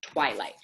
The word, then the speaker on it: twilight: label the next section Twilight help me spell Twilight teeth what W I full L I silent G H T so we have sunlight